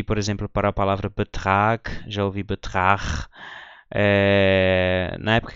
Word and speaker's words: Betrag: A pronúncia de Betrag não é Betrag, é Betrag, com som de K.